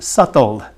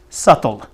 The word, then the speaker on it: subtle: That's what we call, in English, you have a good word, subtle. Subtle, but the B is silent. Subtle.